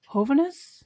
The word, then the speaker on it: Hovhaness: 21st century composers like Alan Hovhaness. Is that how you pronounce? Yeah. And then also, how do you pronounce this Azerbaijani composer?